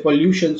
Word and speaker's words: pollution: gonna stress properly so when you say pollution so the stress is on luciene right and there are